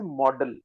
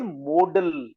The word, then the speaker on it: modal: So some people pronounce it modal, and some people mispronounce it as model. All Okay. three are wrong pronunciation. It is modal. MODL, modal. Model. Not model.